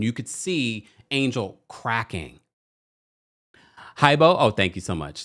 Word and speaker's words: Hibo: Hibo. Oh, thank you so much. Thank you. Cindy says it's pronounced Hibbo.